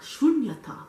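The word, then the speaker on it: śūnyatā: So what he called it is sunyata. Emptiness, vacuity, sometimes voidness. Meditate. Okay, let me just Wikipedia, best friend Wikipedia. Pronounced in English as shunyata.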